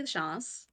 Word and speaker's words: Lachance: My name's Lachance. I say it a little more French, I'm Mm.